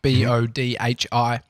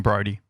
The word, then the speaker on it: Bodhi: My son, Dan, is Bodhi, Bodhi, like Bodhi. I'd rather them say Bodhi. They're not looking at it, though, because that's how it's spelt. And Everyone so calls him Brody. Yeah, it's just the go-to. I mean, they're registering Bodhi in a split second and just adding the R in.